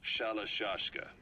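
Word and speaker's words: Shalashaska: Someone must have known about that, because somewhere along the line, Shashka got stuck on the end of Shirashka. The guerrillas were using the name amongst themselves. By the time I got to hearing about it, pronunciation had wound up as Shalashashka.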